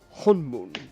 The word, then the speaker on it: Honmoon: But it is pronounced honmoon. They say it out loud, Ninjato. They say how it's pronounced.